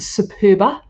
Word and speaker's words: Superba: It goes through a machine called the Superba, which is and I love it because it's spelled Super Bar, BA, Superbar. So it's called the Superba, but I just like the Superbar.